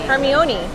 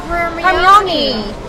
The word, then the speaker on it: Hermione: It's spelled kind of crazy. Hermione. Like I would read it because I read all the books before the And you're movie. like, oh, Hermione.